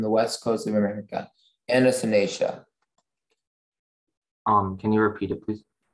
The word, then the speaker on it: Anatinacea: Anatinacea.